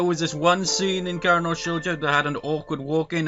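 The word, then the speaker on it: 殻ノ少女: like recently replayed through, was it pronounced Kara no Shoujo, not Karawa Shoujo, entirely different game.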